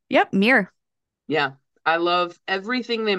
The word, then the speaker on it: MiiR: And Mir, believe I'm pronouncing that correctly. Miir. Yep. Mirror.